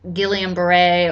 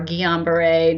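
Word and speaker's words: Guillain-Barré: a A syndrome called gilan Beret or guon Beret depending on how you want to pronounce it but I could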